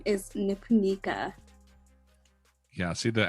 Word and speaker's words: Nipunika: you for having me on my name is nipunica yeah see the accent is the one thing